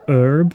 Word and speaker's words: herb: This is definitely an American voice actor trying to do a British accent, because he said "master", and he says "herb" without pronouncing the H.